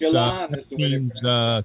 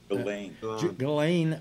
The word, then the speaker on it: Ghislaine: That's Gillan's cohort. How's it pronounced? Gillan. Gillan.